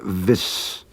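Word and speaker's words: vees: For things like when will he be here, we need a special word vis, vis, which is spelled V-Y-S or V-E-E-S.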